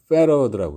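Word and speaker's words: farad: F는 이제 F라고 쓰고 읽을 때는 페러드라고 읽어요. 페러드. 굳이 이제 우리말로 쓰자면은 이렇게 되겠죠. 페러드. 이렇게 쓸 수 있겠죠. 여기 이제 피읍 대신에 이제 F라고 썼는데 페러드 그러니까 F 발음을 하라 그런 얘기예요.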